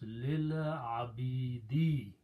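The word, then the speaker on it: لِلْعَبِيدِ: And when you pronounce, you do not pronounce this alif, so this alif hamza will change into hamzatul wasl, a small swad, which means do not pronounce. So the word becomes lil abidi, to the servants, to the slaves.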